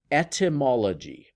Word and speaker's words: etymology: All right, this word number 7 here is pronounced etymology.